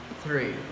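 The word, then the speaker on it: three: The 3 is pronounced with your tongue between your teeth. It's very easy. 3 3.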